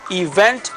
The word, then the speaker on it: event: Fíjense la palabra event, acento en la última sílaba. Es un error también común de muchas personas que aprenden inglés, que hablan español, de acentuar en la primera, y eso no es correcto. Se pronuncia event.